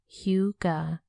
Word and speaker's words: hygge: Huga, pronounced Huga, is gaining global recognition as a happiness, togetherness, and wellness concept.